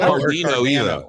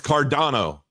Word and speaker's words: Cardano: It's not Cardino either. It's Cardano. Cardano.